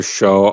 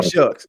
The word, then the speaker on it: Shough: Um, with regard to uh Tyler Show, I know I don't pronounce his name right, but Tyler Sh. Yeah. Tyler Shucks. Yeah. Yeah. Yeah, it throws me off because it just doesn't look like it sounds.